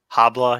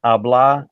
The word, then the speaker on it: habla: Habla, yeah. No, it's not habla. The H is silent. It's habla.